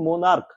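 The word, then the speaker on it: monarch: উচ্চারণটা নয় উচ্চারণটা কি মোনার্ক এম ও এন এ আর সি কে উচ্চারণটা হচ্ছে মানে সি এইচ এর জায়গায় কে আসছে ক আসছে এই ক চলে আসছে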